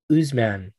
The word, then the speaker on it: Usman: name go it's like you oh oh kamaru oozeman you got it okay cool yeah so he's